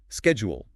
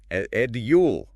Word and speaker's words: schedule: Now let's talk about words with particularly distinct pronunciations, like schedule, British, edule, American, schedule, Big difference.